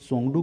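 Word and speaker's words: Tshogdu: से जाना जाता है, भूटान के संसद को सोंगडू के नाम से जाना जाता है जिसमें त साइलेंट रहता है, जापान के संसद को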